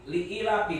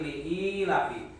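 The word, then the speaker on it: لإيلاف: Ada, yaitu pada lapad li'ilafi dibacanya panjang, jangan dibaca li'ilafi tapi li'ilafi ya.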